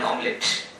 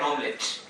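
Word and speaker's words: hommelette: And amidst this struggle, according to Lacan, Hamlet became an omelette. So, and not a joke indeed, Hamlet became an omelette. And here the spelling of the omelette is H-O-M-M-E-L-E-T-T-E. Omelette. And in H is silent there.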